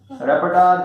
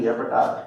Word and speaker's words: repertoire: रेपर्टार, that is REPERTOIRE, रेपर्टार. ठीक है ना, प्रोनाउंसिएशन बहुत अलग होता है स्पेलिंग से.